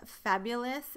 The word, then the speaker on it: Fab-Yule-Ous: This is my second favorite of the collection, and this is called Fab-Yule-Ous, and the Yule is Fab and then Yule and then us, but the Yule part is spelled like Yule log, Y-U-L-E.